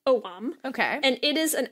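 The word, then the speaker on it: Ogham: but apparently pronounced Oh mom okay and it is an alphabet that is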